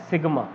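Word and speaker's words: sigma: इसको प्रोनाउंस करा जाता है एज सिग्मा, इसको बोला जाता है सिग्मा, but what does it mean, इसका मतलब होता है समेशन।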